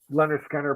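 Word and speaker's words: Lynyrd Skynyrd: I love this album man great album um Leonard Skinner pronounced Leonard Skynyrd um you know Tuesday's Gone simple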